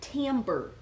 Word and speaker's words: timbre: So the cool thing about a woodwind quintet is that there's a bunch of different timbre. Can you say timbre? Timbre. Timbre. It's spelled like it's a funny word.